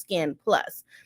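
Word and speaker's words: SKKN+: sign at the end so it's pronounced skin plus all right yeah who's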